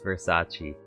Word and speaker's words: Versace: vers sauce oh wait is there a special way I have to pronounce that oh vers vers rice rice versas it's Versace it's Versace I I